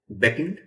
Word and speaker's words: beckon: look at is beckon beckon say after me beckon these two sounds be beckon second syllable is stressed beckon and the verb